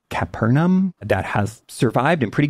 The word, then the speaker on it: Capernaum: Um, there's this ancient synagogue, I think it's pronounced Capernaum, that has survived in pretty good shape.